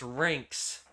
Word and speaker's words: Rinks: Why did you spell it? It's Rinks. It's Rinks.